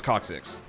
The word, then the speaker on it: coccyx: I have no idea how you pronounce it. It is coccyx.